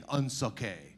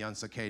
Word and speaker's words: Unsukay: Once no one can pronounce it, but once you hear it and understand it's a completely fabricated word that sounds French for doesn't suck, which is kind of a guiding principle of ours, then you don't forget it.